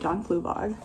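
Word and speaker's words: John Fluevog: These are John Fluvog. Yeah, that's how you say it, John Fluvog.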